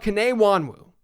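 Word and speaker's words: Kene Nwangwu: and let's talk about K Wan Wu and for the record I believe that's the right pronunciation I did a lot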